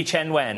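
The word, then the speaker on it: Qianwen: We know that the large language model dubbed, well, I'm going to butcher the name, I'm afraid, but Tongyi Qinwen. Tongyi Chenwen.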